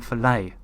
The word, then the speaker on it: Follett: learned that Ken Follett his name isn't pronounced Ken Follett it's Ken filet what no and I've